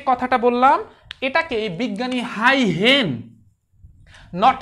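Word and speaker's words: Huygens: এই যে মাত্র আমি যে কথাটা বললাম এটাকে বিজ্ঞানী হাই হেন, নট হাই গেন, এটার আসল উচ্চারণ হচ্ছে হাই হেন।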